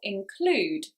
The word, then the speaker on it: include: the stress that's right it's on the second syllable include because this is a